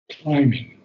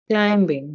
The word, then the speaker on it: climbing: Climbing. Climbing, No, climbing, there's no B pronounced.